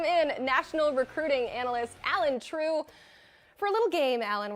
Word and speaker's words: Trieu: We're calling it True. I'm going to say it like your last name. It doesn't sound any different, but I'm saying it in my head.